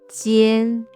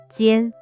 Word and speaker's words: 尖: 一安烟鸡烟间尖 This word is the first tone, so it should be 间 The origin of this character.